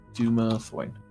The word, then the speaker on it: Dumathoin: It's Dumathoin.